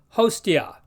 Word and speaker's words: hostia: followed by a consonant it sounds like the ti in patio so this word which means a sacrificial victim is pronounced hostia in other places the